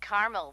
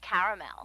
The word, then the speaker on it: caramel: what I said Tina actually you said Carmel when it's pronounced caramel can't we just call